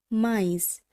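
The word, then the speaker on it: maïs: বন্ধুরা খুব ভালোভাবে লক্ষ্য করুন, এই ক্ষেত্রে যে বর্ণটির সঙ্গে থ্রেমা চিহ্নটি আছে সেখানে যেন আমরা কোথাও একটু জোরপূর্বক উচ্চারণ করছি, বা বলতে পারেন ওই অক্ষরটি যেন গোটা শব্দের মধ্যে সব থেকে বেশি গুরুত্ব দিয়ে উচ্চারণ করা হচ্ছে।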